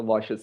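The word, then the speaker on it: Łoś: Yeah, even though it looks like L, it is Polish letter W, Polish letter, so we pronounce it as V, and this is Sh. So Walsh's theorem.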